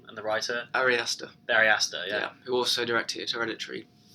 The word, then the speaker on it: Ari Aster: And hopefully Ari Azara, I don't know how to pronounce the director's name, and the writer? Ari Aster.